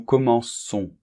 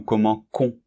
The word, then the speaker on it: commençons: Bien, c'est normal, parce que sinon, on prononcerait nous commençons. Et ça n'irait pas, il serait irrégulier au niveau de la prononciation. Donc, la prononciation reste régulière, et pour cela, nous devons mettre une cédille.